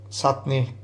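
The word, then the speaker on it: চাটনি: a really simple Bangladeshi mango chutney or as we pronounce it sutt me when I'm looking at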